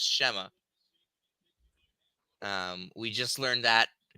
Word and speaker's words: Shema: And yes, it's pronounced Shema.